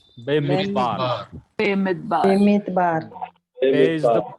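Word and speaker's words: בְּמִדְבַּר: Be Midbar. Be mitbar. Be Midbar. Everyone say Be Midbar.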